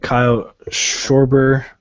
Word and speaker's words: Schwarber: Then you got Kyle Schwarber.